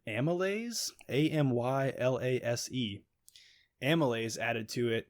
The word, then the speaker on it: amylase: It's called, I guess you pronounce it amylase, AMYLASE.